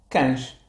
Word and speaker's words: cães: Cães. Cães. Portanto, o E desaparece.